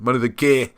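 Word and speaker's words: Mynydd y Gaer: it's just coincidence, is Money the Gair, or Money the Gair. Let's give it its proper South Wales pronunciation. Money the Gair.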